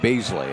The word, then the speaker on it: Bosley: around to buy Bosley it's pronounced almost like Beasley I guess that's the way he said but basil and then